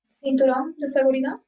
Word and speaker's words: cinturón de seguridad: Cinturón de seguridad.